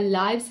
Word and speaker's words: lives: And know their lives have no real purpose or meaning. И знают, что их жизни... Внимание на произношение. Здесь у нас жизни, существительное, поэтому будет через I читаться.